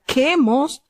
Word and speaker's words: Quemos: Tenemos acá cómo se pronuncia Quemos, que es el dios de Moab, y cuyo dios también los israelitas se tornaron a adorar.